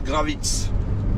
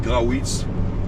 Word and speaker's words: Grawitz: Boulevard Gravitz ou boulevard, il y en a qui disent Grawitz. Bon, parce que c'est vrai que ça s'écrit avec un W, les amis. Alors on peut dire les deux, on peut dire Gravitz ou Grawitz. Voilà. Bon, ça dépend si vous êtes d'origine anglaise ou pas.